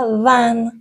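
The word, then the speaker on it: vingt: ۱۸ دیز نف و ون و ون تی آخرش تلفظ نمیشه خب ۲۱ چطوره؟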